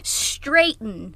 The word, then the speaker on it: Straighton: I heard Straighton and I was like, who? Straighten, not Straighten.